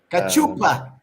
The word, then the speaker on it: Cachupa: Cachupa.